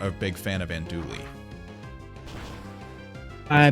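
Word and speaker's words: andouille: a big fan of andouli i the l is silent in that word it's ish it's it's a hat and i've only ever heard and dewey sausage um but anyway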